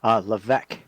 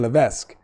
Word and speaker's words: Levesque: a very big question how do you say your last name so we don't butcher it anymore yeah Levesque Levesque all right we were close I was saying Levesque not too far off that you fired the